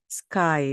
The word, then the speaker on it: sky: 그래서 S 다음에 K가 나올 때 우리가 다 알고 있는 단어이기 때문에 그냥 썼습니다. sky, sky. 그렇죠. 하늘이에요. sky인데 이때 sky라고 하지 않고 sky, sky라고 발음하시면 뭔가 원어민 냄새가 납니다.